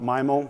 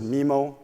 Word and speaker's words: MIMO: the time to vote is it pronounced myo or mimo and it turns out around 65 of the people attending the meeting thought myo was the appropriate way we should go forward around 24 said mimo 35 either in care